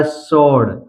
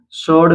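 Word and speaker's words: sword: गया आंसर इसी तरह सोड सोड में भी आप देख सकते हैं यहां पर सस के बाद डब्लू आया है इसलिए डब्लू साइलेंट है सीधा पढ़ा गया सोड नेक्स्ट अब हम देख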